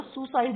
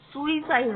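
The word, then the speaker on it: suicide: सुइसाइड हम बोल देते हैं ना, उसने सुसाइड कर लिया, वो सुसाइड नहीं होता, उसका प्रोनाउंसिएशन सुइसाइड होता है, ठीक है।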